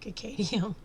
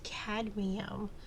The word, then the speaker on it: cadmium: said said that word I think I said cadium um like I said forgive me if I mispronounced that word that metal because that metal for some reason I keep want to say cadium cadium but it's it's cadum so forgive me if